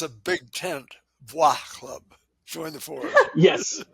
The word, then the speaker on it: bois: The name Sleepy Boys came from this idea of we But didn't it's want to like pronounced bois buy in French.